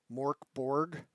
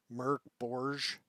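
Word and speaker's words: Mörk Borg: people that do uh Mor Borg which is not how you pronounce it it's like Merc bourge something like that I looked it up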